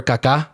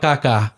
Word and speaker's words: Kaká: For all you people that don't watch soccer, there's a player called Kaká. But it's K-A-K, right? Accent on Different. the A. Accent on the A.